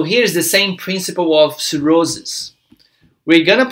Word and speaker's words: cirrhosis: A gente vai falar cirrhosis, ok?